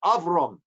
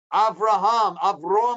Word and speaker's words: Avraham: languages the jew right it came avrom avrom avron is how they pronounced it and he said people mistakenly thought oh the name is avrom as opposed to avraham but no the name is of wrong avraham is avraham so even though the